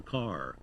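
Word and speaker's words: Kerr: introduction to British actors Deborah car car spelled keer are now in Jim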